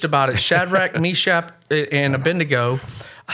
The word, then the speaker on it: Abednego: I probably would not sign up for, and Dad preached about it, Shadrach, Meshach, and Abednego.